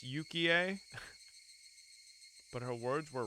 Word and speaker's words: Yukie: Is it Yukie and not Yuki? ああいやそんなことないよ My denial came out almost like a bad piece composed for a poetry slam. Okay, it's Yukie.